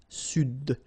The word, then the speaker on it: Sud: Here you should pronounce the D. Sud.